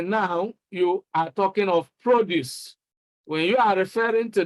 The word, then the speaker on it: produce: So you can see that nouns are stressed on the first syllable. I mean, two-syllable nouns are stressed on the first syllable, and two-syllable verbs are stressed on the second syllable.